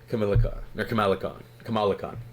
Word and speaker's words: Kamala Khan: She's literally the spirit of Kamala Khan.